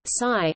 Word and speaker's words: Cy: Cy corresponds to a more accurate pronunciation of a Korean word for between.